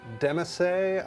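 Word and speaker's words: demesne: There's also your demesse, I believe is the correct pronunciation.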